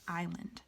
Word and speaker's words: island: The S is silent, so it's pronounced island. If I'm reading it in my head, or even if I say it out loud, I might say island and I wouldn't know what it was.